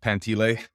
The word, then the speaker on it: Pantile: name is pantile it's spelled pantile but it's pronounced pantle I live in Edmonton